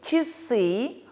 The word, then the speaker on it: часы: Или «часы» буква «а» произносится как «и».